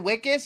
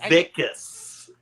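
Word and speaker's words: Wikus: Is it Wicas or is it Wilas? Vicus. You pronounce the W like a V.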